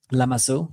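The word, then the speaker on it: Lamassu: And there and also the the one the ancient Assyrian one that I can never pronounce the name. Yeah, but I I love those creatures. Lamasu.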